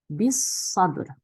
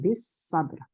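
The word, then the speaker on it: بِالصَّبْرِ: 비사브르. 네, 여기는 사드이기 때문에 램 발음 안 하고 배웠죠, 우리.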